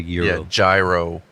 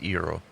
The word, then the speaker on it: gyro: israel would be gyro but it's called a gyro gyro yeah but it's pronounced eero but it's basically lamb lettuce tomato onion